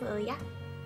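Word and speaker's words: Lilja: But she's a niece and her name's Lilia, and it's spelled Icelandic way, L-I-L-J-A.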